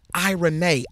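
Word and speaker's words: εἰρήνη: piece that word piece in the Greek is pronounced I Renee I Renee II I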